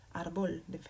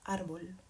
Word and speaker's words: árbol: Cuando yo veo una palabra, aquí esta palabra termina en L, es decir, debería pronunciarse árbol, debería pronunciarse en la última sílaba, en la primera que he llamado. ¿Es así? No. ¿Y cómo lo sé? Pues porque esta palabra tiene una marca y esto hace que yo puedo saber que esta palabra se pronuncia árbol.